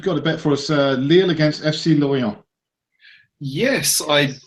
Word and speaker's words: Lille: Lille. He didn't pronounce it good.